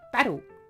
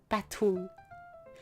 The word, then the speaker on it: battle: Also, a lot of the time we don't pronounce T unless it's like at the start of the word or it's like heavily important in the word. But like in the word battle, we pronounce it as a D, battle, instead of battle.